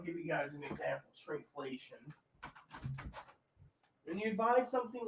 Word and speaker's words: shrinkflation: Shrinkflation. Oh, yeah. Shrinkflation. It's called shrinkflation, not skrinkflation. It's called shrinkflation.